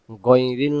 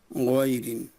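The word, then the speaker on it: غَيْرِ: আমরা বলবো গইন জবর গম সূরাতুল ফাতেহাতে আছে গাইরিল মাগদুবে আলাইহিম গাইরিল মাগদুবে আলাইহিম গাইরিল গাইরিল গাইরিল গাইরিল মাগদুবি আলাইহিম গা উচ্চারণ যেন না হয় গাইরিন এবার আসেন পরের অক্ষরে পরের অক্ষর একবারে সহজ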